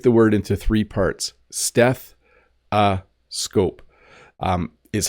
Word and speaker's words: stethoscope: to spell it because if you listen steth ascope it it almost sounds like it has the letter a in it but it doesn't it's stethoscope but it is an O So a stethoscope something